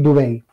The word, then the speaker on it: Dubay: Eric Dubay. Eric Dubay, se escribe D-U-B-A-Y.